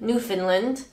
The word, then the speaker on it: Newfoundland: how we pronounce it Newfoundland but it's legitimately spelled new found land but it's Newfoundland so this is felt